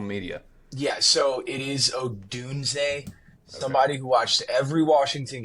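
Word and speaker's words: Odunze: yeah so it is OD dun somebody who watched every Washington game for two dozen Seasons I've I it's Odun it's always been Odun but there's a lot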